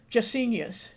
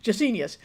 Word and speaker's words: Gesenius: Gesenius. For some reason, my brain just couldn't remember how I pronounced that because it's not how I used to always pronounce it. Gesenius.